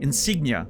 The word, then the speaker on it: insignia: Insignia. Okay. There you go. You were ready for it. Stress and sig.